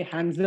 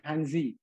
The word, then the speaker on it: Hanzi: lain sebagaimana aksara Khanza jadi kita membacanya ini hanze bukan hanzi tapi hanzi yang kerap